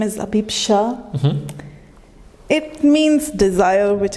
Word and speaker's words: Abhipsha: Is that how you say it, Abhipsha? Yeah, pretty much. You're doing better than everyone else.